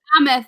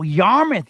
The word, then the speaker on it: Yarmouth: Old Yamith Inn. Yamith, Mike. Yamith. Fuck Yamith. me, that's why I'm going on. Y-A-F mouth. YAH. Spell it again. Old. I-A-R. Yep. M-O-U. Oh wow, Yarmouth.